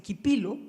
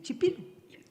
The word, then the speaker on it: Chipilo: Ellos entendieron, por ejemplo, que la ch en español no se dice quipilo, sino que se dice chipilo.